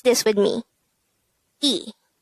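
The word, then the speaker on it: 이: one which is ill to make it e pronounce this with me e how do we spell e in hango it's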